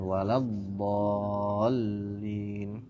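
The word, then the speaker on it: وَلَا الضَّالِّينَ: Gitu ya, waladh, bukan waladh, tidak, tapi ditekan waladhdallin gitu.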